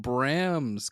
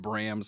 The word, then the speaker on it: Bram: Secret group of Bram's kids. Bram's kids, yes. Huh? Because it's maybe wait. You said it's Bram. Bram. I said Brams. I'm from North Carolina. It's Brams. That's fine. I believe it's Bram.